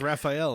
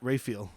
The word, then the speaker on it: Raphael: I'm the Which I always read as Raphael until I heard that podcast. Yeah. How is it pronounced? Raphael.